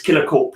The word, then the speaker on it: KillerKorp: always confused me like that's what i was wondering if maybe he was like a silent p and it was like kilo call or something like that all right well it's not it's killer corp yeah yeah so basically